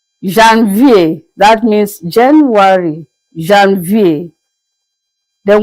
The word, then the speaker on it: Janvier: We began by saying that January is pronounced as Janvier, Janvier.